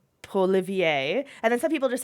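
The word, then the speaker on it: Poilievre: we pronounce it differently, Scott anglicizes it. I haven't really heard too many people say Poliver, though. I don't know. It's my understanding, I could be wrong, but that is kind of his family, and that's the way they pronounced it, because they're from Calgary, and then when he moved to Ottawa, he changed it to Polivier.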